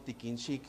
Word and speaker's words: tikin xic: Entonces, el nombre de pescado tiquinchic significa un pescado al sol, un pescado secado al sol, eso es lo que significa.